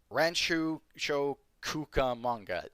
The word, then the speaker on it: Rancho Cucamonga: Whitney and Smith were detained and transported to the Rancho Cucamonga, is what someone in the chat said, which I'm guessing is the correct pronunciation, station for interviews.